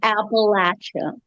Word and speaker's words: Appalachia: Apple at you so we say Appalachia is it different in